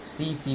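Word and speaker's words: tsetse: याद रखें, इसमें टी साइलेंट है तो सीसी बोलते हैं इसे। कई जगह टस्सी टस्सी लिखा हुआ है, टस्सी टस्सी गलत है, इसको सीसी फ्लाई कहते हैं।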